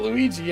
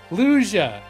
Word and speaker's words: Lugia: It wasn't Luigi, I know that. Lugia. It's Lugia? That last one?